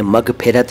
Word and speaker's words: मग़फ़िरत: अब मग़फ़िरत, इसे मग़फ़िरत या मग़फ़िरत ना बोलें, मग़फ़िरत।